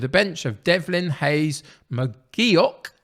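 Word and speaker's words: McGeouch: bench of devlin hayes mcgeok i've been reliably informed it's mcgeok that's how i'm supposed to pronounce it campbell mcclellan ross and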